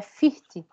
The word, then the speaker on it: Fichte: É Fichte. Fichte. Esse CH... aqueles alemão, né? Tá aqui. Isch. Isch de eu, né? Eu. Isch também, Fichte.